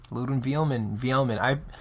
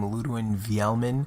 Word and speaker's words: Ludwin Vielman: Ludwin Vielman. I personally pronounce my name Ludwin Vielman. Sorry. But people say Ludwin Vielman. Whatever works. Whatever is better for you. Whatever's best for you.